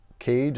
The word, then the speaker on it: CAIG: This is by Caig, I believe it's pronounced C-A-I-G.